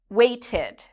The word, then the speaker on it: waited: The verb wait ends in a t sound. So when we add ed, it becomes an id sound, waited. And it has that second syllable, waited, wanted, needed.